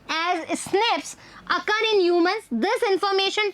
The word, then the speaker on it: SNPs: differences, SNPs मैंने बताया था, single nucleotide polymorphism pronounced as SNPs occur in humans.